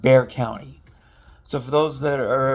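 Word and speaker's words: Bexar County: in, by the way, is spelled B E X A R, but it's actually pronounced Bear County. So, for those that are ever in the area, remember that it's actually called Bear County.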